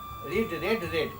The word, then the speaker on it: read: पढ़ने का इंग्लिश होता है रेड। स्पेलिंग चेंज नहीं होगा, बट प्रोनाउंसिएशन चेंज हो जाएगा, उच्चारण चेंज हो जाएगा।